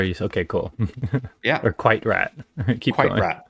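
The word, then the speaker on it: QuiteRAT: that I now know how to Oh, correctly pronounce. are you done with Quiet Rat? Or are you okay? Cool. Yeah, Or Quite Rat.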